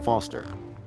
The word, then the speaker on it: Foster: with pickle does I'm Foster I'll remember that easy because your name rhymes with fossil and you're old thanks kid what's wrong with the roundabout it sucks stupid mr.